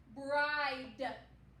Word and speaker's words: bride: it's vowel consonant e so the silent e will make the vowel say its long sound so it's gonna say i i what's the word bride bride like when someone